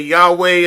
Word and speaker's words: Yahweh: You got to s say Yahweh." It's like breathing in and breathing out.